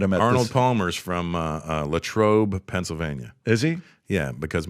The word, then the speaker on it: Latrobe: He tells you Arnold that Palmer is from Latrobe. Well, I would have never known Latrobe, and I probably would have butchered how to pronounce it if you wouldn't have first said Latrobe.